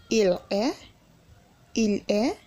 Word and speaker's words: est: He is, il est, notice the difference in the spelling of tu es and il est. The pronunciation of e is the same, but the spelling is not the same.